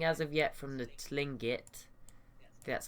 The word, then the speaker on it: Tlingit: City already nothing as of yet from the Tlingit that's how that's how you say it and